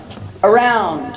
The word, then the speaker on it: around: First one, around. You really put the emphasis on the second syllable. You barely hear the first syllable. The first syllable is schwa.